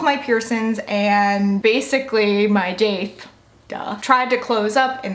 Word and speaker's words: daith: I love it when people put the extra spelling for how I pronounce daith. Duh.